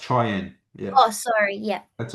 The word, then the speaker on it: Cheyenne: So K is it Kayan? It's pronounced Cheyenne.